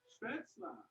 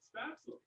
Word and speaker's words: Spätzle: With Spätzle, or as we Americans prefer to pronounce it, Spätzle.